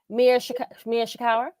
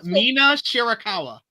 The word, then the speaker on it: Mina Shirakawa: Number 2 is Mercedes and Mia Shikawa. I said it right. Mina Shirakawa.